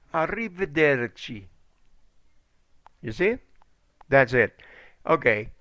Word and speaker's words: arrivederci: know no no repeat it of a me arrivederci arrivederci okay arrivederci okay pay attention this one here is arrivederci in english it's goodbye goodbye in italian is arriba durgi goodbye arrivederci arrivederci you see that's it okay can you please